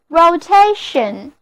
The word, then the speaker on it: rotation: 大家看到旋转的纺锤要小心哦。好了，不开玩笑了，我们现在在 rotate 后面把 e 去掉，加上 t-i-o-n 的名词后缀，那么单词 rotation， r-o-t-a-t-i-o-n，重音放在第二个音节上， rotation 就是 rotate 的名词，意思同样是旋转循环。所以地球的自转我们就可以说成 the rotation of the earth， the rotation of the earth。